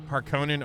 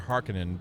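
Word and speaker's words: Harkonnen: Harkonin or hearkinin depending on how you pronounce it. I used to always say Harkonin, but then I think after watching like the sci-fi version, I I started saying mixing in Hearkin.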